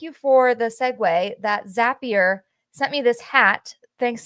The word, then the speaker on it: Zapier: And yes, on it it says Zapier rhymes with happier.